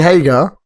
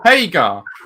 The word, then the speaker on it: Haga: got Hager versus Dustin I believe you pronounce his name wrong not swagger Sammy Hagar no attention Jake Haga versus Dustin MJ I told you Hagar okay that's how it said I make a page